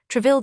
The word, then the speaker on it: Troisvilles: The intimates who came to play their game of cards of an evening, the Troisvilles pronounced Treville, the La Roche-Guyons, the